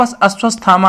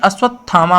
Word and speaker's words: अश्वत्थामा: गर्दन करने वाला ऐसे आप अस्वस्थामा आता है तुम्हारे पास अश्वत्थामा नहीं बल्कि अश्वत्थामा होगा अश्वत्थामा अश्वत्थामा नहीं तो